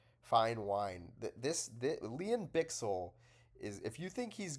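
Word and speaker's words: Bichsel: Sorry, I heard Bixel pronounce his name like that himself. So it turns out we're all getting his name wrong. It is Leon Bixel.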